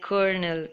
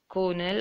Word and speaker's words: colonel: that ok moving on here the word o is silent but you have to say it like colonel k ER and he L it is not Cologne L or Cornell or any way that you pronounce and it